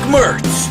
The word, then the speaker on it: Mertz: I'm a dumbass trainer dick Mertz rhymes with hurts did you start working